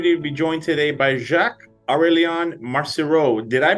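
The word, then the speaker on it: Jacques-Aurélien Marcireau: series I'm happy to be joined today by Jacques aurelian Marcy Road did I pronounce that correctly Jacques it was perfect was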